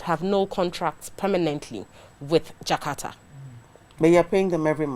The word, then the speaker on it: Jkarta: Jkarta.